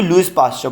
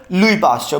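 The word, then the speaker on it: Louis Pasteur: कौन लुई पाश्चर अच्छा अब बच्चे इसको लुईस पाश्चर पढ़ते हैं actually word is लुई पास्टर because ये फ्रेंच वर्ड है तो इसकी प्रोनाउंस थोड़ी सी चेंज होती है ठीक है अब लुई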